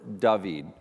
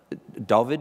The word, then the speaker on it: Dovid: There's a moment for David. Dovid, how do you say it correctly? Dovid, yeah. Dovid.